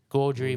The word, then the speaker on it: Gaudry: Gaudry Motorsport Racing. Like Audrey, but with a G.